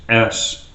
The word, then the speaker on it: (((S))): goes by the name of the way I pronounce is which is parentheses parentheses parentheses s parentheses parentheses parentheses so I call it s